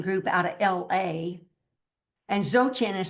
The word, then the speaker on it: Dzogchen: You know, I meditate with that Zoten group out of LA and Zotchin is spelled DZ O G C H N.